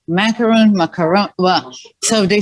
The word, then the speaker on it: macaron: i'm like tell me how how do you pronounce it do you say macaroon macaroon macaron so they say in in french of course